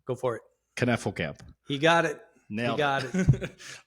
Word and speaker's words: Knefelkamp: Knefelkamp. He got it. Nailed it. I botched it earlier. Not easy. No. Lots of K's, lots of silent. Well, not silent. No, nothing is silent.